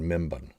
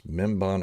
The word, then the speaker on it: Mimban: of what happened on membon it's mimban or mimbin minban I think it's mem Bon but they were pronouncing it differently and uh and or